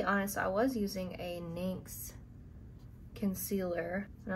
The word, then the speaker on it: NYX: I'll be honest, I was using a NYX concealer, and I'm not sure how other people pronounce that, but I pronounce it NYX, but it's NYX, and the concealer by